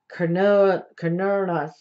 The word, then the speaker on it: Cernunnos: Pronounced Cernunnos.